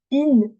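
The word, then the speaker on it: إن: Ce elif, je vais le prononcer. Bon, là, il n'y a pas de signe dessus, donc moi, je vais vous dire comment il se prononce. En vrai, on dit in. Donc là, c'est comme s'il y avait une kasra.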